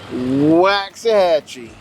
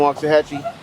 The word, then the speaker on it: Waxahachie: You know someone's not really from Waxahachie based on how they say Waxahachie. Waxahachie. My sister always says Waxahachie. She got that Spanish little, she can't even say, she don't even pronounce the X.